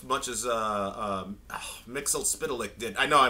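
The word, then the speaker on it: Mxyzptlk: eat it all right they actually tell you how to pronounce in the episode yes yes spit lick and you guys say it as one word like the same way a New Yorker would order a bacon egg and cheese it's all one word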